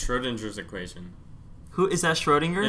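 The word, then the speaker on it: Schrödinger: that irwin schrodinger yeah why are you pronouncing like that though because that's the correct way to say i mean schroedinger is so much better though no he's austrian you're like americanizing his name so what yeah i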